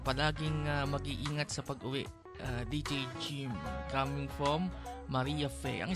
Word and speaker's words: Jim: J-I-M po, tatato na nga lang po eh. Hindi pa ma-spell ng tama. Anyway, ang spelling po ng pangalan natin, J-I-M. Jim ang tamang pronunciation.